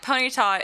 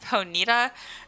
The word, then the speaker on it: Ponyta: And as a kid, I remember like Ponyta. It's actually pronounced Ponita, and as a kid, that just like blew my mind.